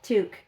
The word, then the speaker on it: toque: pronounce it tongue that's a q it's still pronounced tongue Tu tuque yeah toque like a toque you know do you know